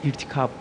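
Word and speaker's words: İrtikâp: İrtikap. Eee, kötülük etme ama telaffuzunuz yanlış. İrtikap. İrtikap. İrtikap. İnceltme ka ince olacak.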